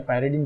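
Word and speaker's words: pyridine: ये इसको जो है प्रोनाउंसिएशन इसका पिरीडीन आप करते हो या पाइरीडीन जो भी करते हो, तो ये जो है ये इसके अंदर डोनर एटम कौन होता है?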